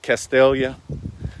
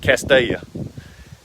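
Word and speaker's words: Castalia: cast a-your north carolina if you're not from around here you might would pronounce it castelia but and it spells CAS T a li a but we pronounce it Castilla and to spell it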